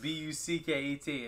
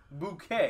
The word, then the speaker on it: Bucket: yeah and it was b-u-c-k-e-t and she they were like this is bucket and she's like no it's bouquet okay b-u-c-k i had